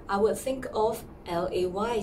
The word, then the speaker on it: Légère: So it will sound something like the first sound of the Mandarin syllables. Lay. Alright. The second word, I would think more like a J-A-Y sound first. Alright, coupled with the Mandarin fourth sound, which is like a downward sound.